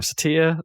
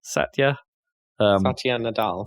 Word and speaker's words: Satya Nadella: Satya, how do you pronounce his name? Satya. Satya Nadella.